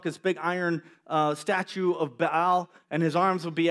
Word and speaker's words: Baal: Or in Texas, we call them Baal. Baal worshipers. Those dang Baal worshipers. But is actually pronounced Baal.